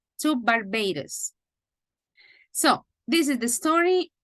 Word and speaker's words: Barbados: Canary Islands remember that the S is silent to Barbados so this is the